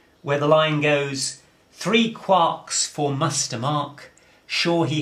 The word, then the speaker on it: quark: beside the mark now that would suggest that since we're rhyming with bark and Mark it ought to be a quark but Gelman was very clear he wanted it to be called a quark so strictly that's what